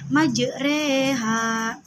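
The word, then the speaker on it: مجراها: Waqarkabu fiha bismillahi majriha wa mursaha. Cara bacanya yaitu dengan memiringkan harakat fathah ke kasrah sehingga bunyi huruf ro menjadi cenderung ke e sehingga terdengar seolah dibaca majreha.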